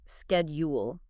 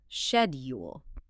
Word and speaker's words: schedule: In American English, we pronounce it schedule. It has a hard K sound right at the beginning. instead. Now, in British English, you might hear schedule.